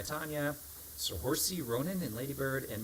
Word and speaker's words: Saoirse: Saoirse. Yeah, go on, say it. Saoirse. Okay, it's important we pronounce that as Oh, you Saoirse.